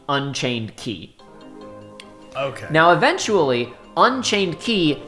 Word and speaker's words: Unchained χ: Again, spelled with the Greek letter Chi, But in this particular instance, we do have explicit pronunciation instructions, and it is you are supposed to call it Key, Unchained Key.